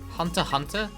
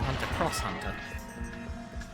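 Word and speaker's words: Hunter × Hunter: played it clearance pronounce the x in hunter x hunter wait how are you supposed to pronounce it then because i don't watch that either i watch very few anime in a given calendar year and that is not one of them hunter hunter why is there an accident i'd have soon pronounced it hunter cross hunter well that's not gonna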